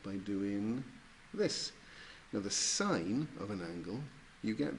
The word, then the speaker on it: sine: then we've got three of them we've got sine which was written s I am people pronounce it sin but is that actually we pronounce that sine cosine or cos for short and tangent or